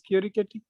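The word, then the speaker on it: Chierichetti: they are co-authors okay did somebody like ravikumar tell you it is kirikati yes okay that's interesting okay i know flavio for a long time but i seem to have got this uh pronunciation wrong okay um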